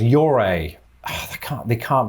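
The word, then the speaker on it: Ouray: instinct so i think i'm going to hear au rey this would be six if this is correct yuri is rightly nicknamed this they put a wire in there where there isn't one so it's your a ah they can't they can't be doing this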